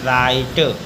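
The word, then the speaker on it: write: र पर अगला है डब्लू आर आई टीई आर से पहले डब्लू है तो डब् साइलेंट पढ़ेंगे राइट अगला है डब्लू आर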